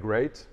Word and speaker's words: GREIT: very bright laundry so you pronounce it a bit like great just great yeah okay that's great